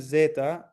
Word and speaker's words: zeta: Z as in zeta, zeal, kudzu. I don't know what kudzu is. It's pronounced with a Z, okay?